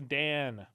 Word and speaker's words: Dan: as far as as Dan probably pronounced da but I'm going to say Dan it's just d like Daniel and it's funny it's